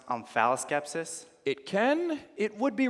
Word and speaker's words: omphaloskepsis: The word is amphiloskepsis. Wait a second. Didn't Jean Valjean over there just get Mexican? Yes, and you got amphiloskepsis.